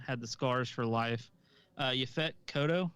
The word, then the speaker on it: Yaphet Kotto: Yaphet Kotto, is that how you say his name? Yeah, Fat Kodo.